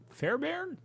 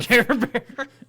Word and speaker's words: Fairbairn: Fairbairn? Fairbairn? Like Care Bear? Care Bear. I think that's how you say it.